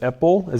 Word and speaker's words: Epel: Doctors Elizabeth Blackburn and Elissa Epel. Did I pronounce that right?